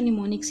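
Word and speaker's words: mnemonics: इसको जो है वो एम साइलेंट होगा इसका, और इसको आप प्रोनाउंस हमेशा निमोनिक्स ही करेंगे।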